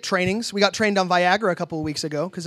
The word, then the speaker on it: Viagra: how to pronounce it she kept calling it viira the whole time about halfway through I couldn't take it anymore and I'm just like hey just to let you know that's actually pronounced Viagra she got way defensive